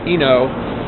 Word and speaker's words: Ueno: And then the marketplace that I found yesterday near the Ueno, U-E-N-O, I think it's pronounced Eno, train station.